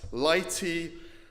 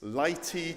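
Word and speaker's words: Laeti: getting into it okay it's this word is pronounced laity as in lights Lighty triumphantase Lighty triumphantes there's a little face down there let's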